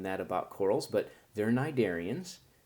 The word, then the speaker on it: Cnidaria: Okay, you might not have known that about corals, but they're cnidarians. The C is silent.